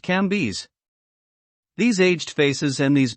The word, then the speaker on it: Cambis: There were in Madame Dei's salon some very venerable old noble women whose names were Mathan, no, Levas, pronounced Levi, and Cambis, pronounced Cambes.